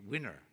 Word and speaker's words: WINIR: WINIR, as in the winner, not the loser, the winner.